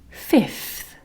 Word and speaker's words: fifth: First, third, fourth, fifth. Now, the most accurate way to say this is f-I, f. So that is 2 letter F sounds and then 1 TH sound at the end.